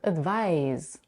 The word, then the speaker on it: advise: the end, advice, and the verb advise, that is pronounced with a z.